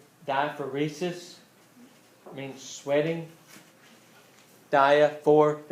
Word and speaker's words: diaphoresis: medical term for sweating starts with the D diaphoresis I mean sweating daya fourth and Risa's spelled phonetically it's it's belt like it sounds except